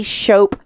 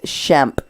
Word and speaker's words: Schemp: quote unquote journalist chope that woman can never say my name correctly schope well my name is schemp she calls me a